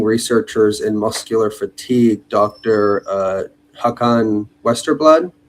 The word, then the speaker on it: Håkan Westerblad: Håkan Westerblad. Am I pronouncing that right? Yeah, almost. Håkan Westerblad in Swedish, but that's very difficult to say if you're not from Sweden.